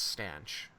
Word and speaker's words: stanch: No, it's stanch. It's spelled the same way. No, it's not. Staunch, Is it like, not? no, a staunch supporter is Staunch, and to stanch the blood flow is Stanch. There's no U in it.